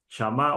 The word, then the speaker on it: shamá: que es la palabra samá, shamá o shamá sería s h a m a eh con acento en la a o con tilde en la a final, eh, es la palabra